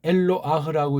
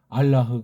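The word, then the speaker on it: אלוה: 그러니까 이건 엘로아흐라고 이제 모음부어 만든 애들이 발음했는데 우리 그냥 알라흐 그래도 돼요. 엘로아흐라고 딴 나라 애들이 먼저 해놓은 것도 알고 거기에 주눅 들지 말고 자음만 보시라고 했어요.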